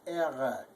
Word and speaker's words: Ehre: It's even deeper than that. It's Ehre. So if you could gargle it, just you just pop it once. Ehre. Probably better if that's difficult for people to pronounce. Probably better if you just leave the R out entirely and say eh.